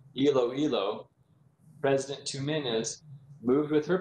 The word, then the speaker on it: Iloilo: village in the philippine province of elioli i'm sorry i mispronounced that iloilo president tuminas moved with